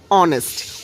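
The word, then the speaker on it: honest: এখানে দেখুন এখানে হচ্ছে এইচ দিয়ে শুরু হয়েছে একটা কনসোনেন্ট কিন্তু এইটার টোটাল উচ্চারণটা হচ্ছে অনেস্ট অনেস্ট যেহেতু ও উচ্চারিত হয়েছে অনেস্ট তাই হচ্ছে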